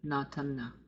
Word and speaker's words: Natanna: And I use the first spelling, Natanna. I don't nasalize the A, Natanna.